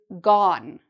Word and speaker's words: gone: The past participle of "go" is "gone", so the vowel changes. "Gone". "Go"; "gone", "he is gone", "on". It rhymes with... sounds more like "on", "on", "gone".